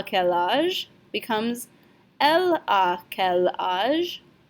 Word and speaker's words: quel: So il a quel âge becomes elle a quel âge. Elle and quel rhyme with each other.